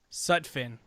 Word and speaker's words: Sutphin: how do you say your last name such such fin yeah I should have known that but like